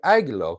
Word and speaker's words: Angelo: Because if you are, I'll call you Aguilo, which is the way we Greek people pronounce Angelo, since apparently you're not Italian, but wherever you're from is fantastic.